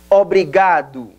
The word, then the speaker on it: obrigado: Repita, obrigado.